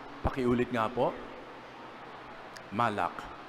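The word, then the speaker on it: מלאך: Malak. Pakiulit nga po Malak. Actually pag pronounce parang ganito. Malak sige nga pakiulit nga. Malak para kayong naglilinis ng inyong lalamunan.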